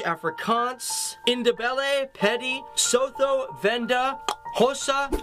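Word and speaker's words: Xhosa: indebted petty sotho venda hossa and that is hosa with a click that's how you pronounce an x swazi swana and of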